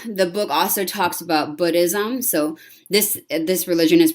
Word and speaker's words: Buddhism: So the book also talks about Buddhism. So this religion is pronounced Buddhism, and it's the Buddha, not Buddha in Buddhism. So it's like the vowel sound in the word good, not in the word food.